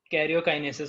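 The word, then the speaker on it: karyokinesis: अब यहाँ पर प्रॉपर कैरियोकाइनेसिस होने वाला है, यहाँ पे ना गेरी स्पेलिंग है बट ये टी की जगह आर है, कैरियोकाइनेसिस, ठीक है।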